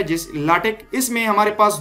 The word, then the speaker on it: LaTeX: written in celebs तो नाटक नहीं बोलते हैं लास्टिक बोलते हैं इसको इसी तरह हमारे पास एक